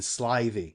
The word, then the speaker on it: slithy: to pronounce slithy toves the eye in slivy is long as in rive and toves is pronounced